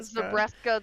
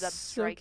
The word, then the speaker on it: Zebstrika: I've been saying Zabreska this whole damn time, and it's Zebstrika.